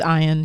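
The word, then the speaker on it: Ian: Stars ter read and ion is how you pronounced it it's ion yeah okay so ion this was the first one right they tried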